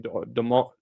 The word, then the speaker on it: D'Entremont: already forgotten how to say his last name, D'Entremont.